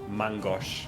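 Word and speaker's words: main-gauche: Before he attacks me, just to clear this up, it's pronounced mangosh because it's French, like man as in hand, and gosh as in like left.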